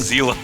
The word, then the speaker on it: Zealot: It's not Zealot, it's Zealot.